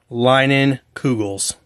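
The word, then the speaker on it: Leinenkugel's: their summer Shandy so they even do with like a little pronunciation of it line in Google's and this is a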